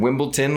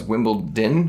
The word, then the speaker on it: Wimbledon: I'd wear this I wear like this to Wimbledon well here's the thing this is gonna say by the way Christian said Wimbledon last video it's Wimbledon Wimbledon it's Wimbledon wimbled I'm just so glad